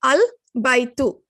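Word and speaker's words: البيت: So if a word is in the beginning of the verse, for example, here you pronounce the Hamzatul Wassel. You're saying al-baytu.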